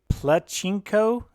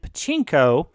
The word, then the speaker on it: pachinko: for this tutorial sequence i believe i refer to this as a pluchinko game or a panchinko game i always get the pronunciation on that a little bit wrong that's not quite correct um and pachinko which is very popular